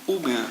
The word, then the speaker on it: Umeå: Es con Umeå. Es que la A, cuando lleva un circulito arriba, se pronuncia en sueco.